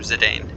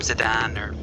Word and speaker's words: Zidane: meeting our main character zidane as a few different ways i've heard people pronounce this but i've always i've always called him zidane if you call him sedan or something different that's fine now the basic controls don't